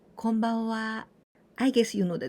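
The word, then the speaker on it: こんばんは: Konbanwa, konbanwa, we usually write in hiragana and the last part with ha, and we pronounce konbanwa.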